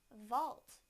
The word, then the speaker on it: vault: Walt now the V sound in the word Vault Vault Vault now I will use them both